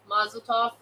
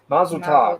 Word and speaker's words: Mazel Tov: subscribers Del Troy then how do you say that Michelle maisel toe Mazel Tov Mazel Tov okay sorry I told